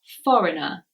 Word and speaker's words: foreigner: something like this but actually the G is silent and it is foreigner so the letter G